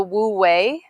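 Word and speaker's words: wu wei: it's it's called the wu way it's spelled like w-u-w-a-i or something like that but it's called the wu way and it's to find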